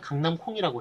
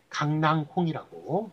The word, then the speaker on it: 강낭콩: 그런데 이제 강낭콩이라고 이렇게 그 어원에서 멀어져 가지고 발음이나 표기를 합니다. 그럴 때는 그 멀어진 형태로 굳어져서 오랫동안 사용됐으니까 그거를 표준으로 삼은 강낭콩이 맞습니다. 그러니까 강남콩이 틀리고요.